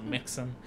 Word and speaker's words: Mixon: It's like Dixon, but with an M instead, so Mixon.